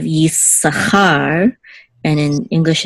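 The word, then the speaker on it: יִשָּׂשכָר: Good, and again we see that the accent marks in English it's Issachar instead of Yissachar, and in English it's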